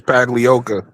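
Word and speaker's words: Pagliocca: Pagliacci. Okay, I'll let Marcus say it for me because I botch it. It's Paglioka.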